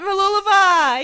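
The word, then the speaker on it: Mooloolaba: the location right going to Australia Sunshine Coast Mula is pretty special oh you did it you did it maliva he said it right he's been practicing for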